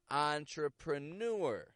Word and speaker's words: entrepreneur: These are words that come into English from French and are spelled with the letters E-N. E-N. Such as entrepreneur, entree, encore, en route, on.